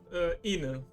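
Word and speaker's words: 犬: Inu. I believe the accent is on the I.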